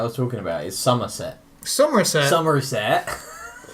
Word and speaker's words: Somerset: Somerset. It's spelled differently. Like summer. But it's like summer.